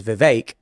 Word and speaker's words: Vivek: They're going to say Vivek when his name is Vivek.